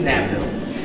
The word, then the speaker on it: NABFEM: So that would take you to NABFEM. That's how we pronounce our acronym for our long title.